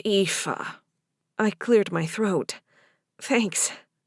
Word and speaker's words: Aoife: It's pronounced Aoife.